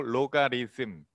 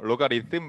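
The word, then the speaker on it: logarithm: 노가리 아니고 로가리즘. 로가리즘. 씀. 자, TH 발음, 번데기 발음, 뜸 해서 로가리즘 맞아요.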